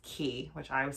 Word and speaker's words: Quay: is called key australia it's spelled q-u-a-y but it's pronounced key which i was saying